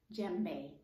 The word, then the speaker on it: djembe: time of the week is done but you pronounce it djembe now there may be some people who say